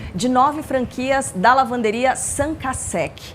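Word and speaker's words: Cinq à Sec: Qual é a pronúncia correta? Cinco a sec. No Brasil a gente fala cinco a sec mesmo. Como a franquia tem origem francesa, lá se fala sanca.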